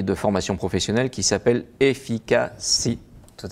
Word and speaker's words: Efikce: Vous êtes le dirigeant et le fondateur d'un cabinet de coaching et de formation professionnelle qui s'appelle Efficacy. Tout à fait, c'est bien prononcé.